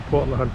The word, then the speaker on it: Port LeHunte: But look, spot here, Port LeHunte Jetty, that's how it's pronounced, is pretty stunning.